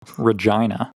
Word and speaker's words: Regina: Saskatchewan I don't know Regina Regina Regina is the city that rhymes with fun oh my God that's